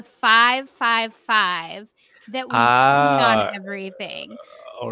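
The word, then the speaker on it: ห้า: five five that we have on everything all right so for example why do you guys use the numbers ah so five uh in thai language we pronounce ha ha so can you guess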